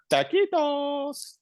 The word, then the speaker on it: taquitos: You go on at great lengths about the taquitos. Taquitos? Am I pronouncing it right? Yeah, taquitos. Taquitos at 7-Eleven.